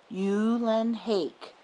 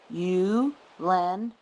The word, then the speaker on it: Ulenhake: My last name is pronounced Ulenhake. Ulenhake rhymes with rake.